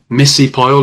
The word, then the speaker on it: Missy Pyle: And I just wanted to ask about like Missy Pyle, is that how you pronounce it?